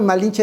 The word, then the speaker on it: Malinche: los su nombre, pero el término malinche es porque ellos no podían pronunciar el malince. Entonces, malinche, era más fácil les cheque la Pero